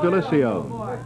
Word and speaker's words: Delisio: I know the pure Italian would be Delisio, but he prefers Delisio.